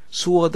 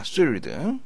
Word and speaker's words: sword: sword 아닙니다. sword입니다. sword. W가 발음되지 않습니다. sword, 묵음된다는 거.